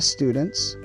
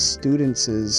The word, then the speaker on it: students': makes it possessive and we don't add an extra syllable or anything like that so we don't say these students's homework no we simply say the student's homework so we just put